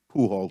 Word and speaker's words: Pujol: next is um pajao how do you say your last name pujol sir okay and uh